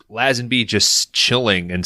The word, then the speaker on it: Lazenby: Like you get George Lazenby actually is a proper pronunciation.